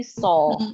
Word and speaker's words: saw: ya, tapi so ya. Jadi SAW ini dibacanya so. Ya, so.